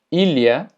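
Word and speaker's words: ilha: La LH se pronuncia como li. Por ejemplo, filio. Filio, que significa hijo. Alio, que significa ajo. Ilia, que significa isla. Y malia, que significa malla. Entonces, la LH es li. Filio, alio, ilia, malia.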